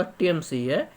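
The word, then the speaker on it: Thames: वह टीएमएस नदी के किनारे बसा देखिए कहेंगे थीम्स थीम्स लिखा रहा था क्योंकि थीम्स लिखा था लेकिन सही आपका उच्चारण आपका टीएमसी नदी के किनारे लंदन आपका बस ए हुआ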